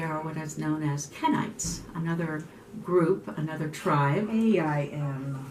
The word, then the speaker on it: Kenites: They are what is known as Kenites, another group, another tribe. K-E-N-I-T-E-S, not Kenites, yes. Kenites, yeah, K-E-N.